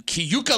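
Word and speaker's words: Keuka: this issue happening on Kuka Lake did I say it righta CAA Lake that's what I said no you add like an extra syllable in it kuk Kuka Lake I've always been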